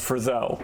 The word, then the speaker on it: Frizel: for uh copyright reasons her name is pronounced Friz-ell Frizel, Miss Frizel yeah Frizel Spelt with an e and an l, el not le other way round yeah Walking out of